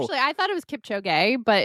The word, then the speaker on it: Kipchoge: Kip, Kip, Cho, Cho, Gi. Gee. Oh, Gee. Kipchoge. It's Gee, not B. Well, oh, actually, I thought it was Kipchoge, but it's better than Kipchoge.